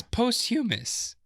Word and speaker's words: posthumous: It says posthumous.